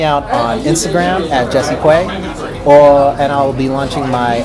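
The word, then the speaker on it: Kwe: be up at Jesse Quay. Art by Quay. Art by Quay? Yeah. Okay. But primarily Instagram, Jesse Quay, or Twitter at Jesse_Quay. And Quay is spelled K-W-E.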